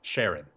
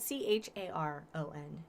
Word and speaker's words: Charon: his wife uh charlotte sharon i thought it was it's named after the boatman to the underworld oh yes so but so it's that's how it's pronounced with the sh the but yes no